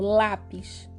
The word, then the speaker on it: lápis: Por exemplo, lápis. Lápis. É o lá que é o mais forte, não é o pis que é a última. Percebe? O lá é mais forte, então lápis é uma palavra paroxítona.